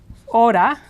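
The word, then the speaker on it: hora: this word a a the H is silent in Spanish always silent so this would be represented in the pronunciation guide as Oda means our you also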